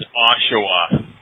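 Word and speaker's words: Oshawa: Um, it's Ashawa, Ontario.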